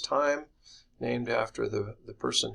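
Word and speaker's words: Thiem: is called the time equation th hem is pronounced time named after the the person who initially derived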